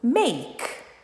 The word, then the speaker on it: make: Muitos brasileiros falam make, né? Make, porque tá acostumado a falar consoante vogal, make. Então 2 sílabas. Não são. Uma sílaba apenas. Make, ok? Esse k não conta como sílaba, só o may.